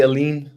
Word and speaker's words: Aline: I would say Aline. Aline. Aline. Okay. But it's like the stars align.